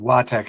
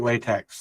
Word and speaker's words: LaTeX: LaTeX. It's spelled like latex, like rubber.